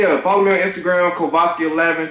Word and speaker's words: Kovoski: Follow me on Instagram, Kovoski11. Kovoski is I know that's not the standard black person name.